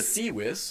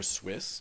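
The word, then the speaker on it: CWIS: So the sewis or swiss depending on how you like to pronounce it. Aaron says sewis so that's what I'll say.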